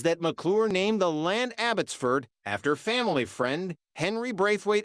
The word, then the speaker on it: Abbotsford: Sir Walter Scott's Home abbottford house and pronounced it with the accent on Ford 15 in his later